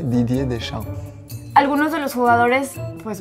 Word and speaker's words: Deschamps: Sin la P, sin la S, Didier Deschamps.